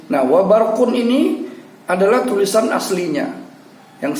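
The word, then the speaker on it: وَبَرْق: Namun karena bertemu tanda wakaf, maka cara membacanya adalah wa ra'dun wa barq. Kita tetap mematikan wa barq, tapi pada ujungnya suara q-nya itu kita yang bisa mendengarnya sendiri dengan bunyi wa barq.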